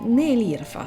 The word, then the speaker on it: Nelirfa: Beh, vedo che anche tu sbagli la pronuncia del mio nome, ma molti hanno difficoltà a pronunciare il nome Nelirfa, si pronuncia proprio esattamente così.